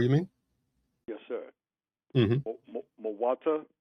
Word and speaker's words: Muata: Muata, am I saying it correctly? Yeah, M-U-A-T-A.